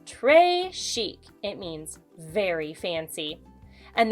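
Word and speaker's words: très chic: a bracelet tray chic you say it like this tray chic it means very fancy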